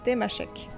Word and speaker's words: Tamasheq: En tamashek, on prononce tamashek, temashek. Et pourtant, il est partout écrit tamashek.